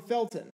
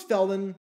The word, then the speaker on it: Felton: Vikings as Jerome Fulton it's Jerome Felton and even if it was felden that's not who they